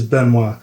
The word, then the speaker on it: Benoit: Yep, it's Benoit. Benoit. Okay, I should probably learn a little bit of introductory French before this, but it's too late now. It's okay. Benoit was an altar server at their church in